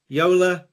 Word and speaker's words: Joola: is it Ula Jula Yola all of those go I guess in the us but we go with Yola Yol so Y is proper okay fine we've been